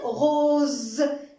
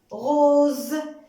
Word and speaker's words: rose: Pelouse, rose. Ah, on avait déjà parlé de cette règle. On va faire juste un petit rappel. Alors, on prononce le son Z si la lettre S est entre deux voyelles.